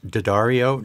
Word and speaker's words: D'Addario: D'Addario has, I learned it's pronounced D'Addario. D'Addario has really good coated strings, but I like the elixirs.